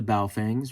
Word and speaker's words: Baofeng: I'm used to the Baofengs, right? The proper pronunciation. I used to teach English to Chinese kids, and it's Baofeng.